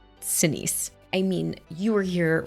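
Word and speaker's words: Sinise: I mean, I've never been to Vietnam, but And I just typed in how does Gary Senise pronounce his name? Senise.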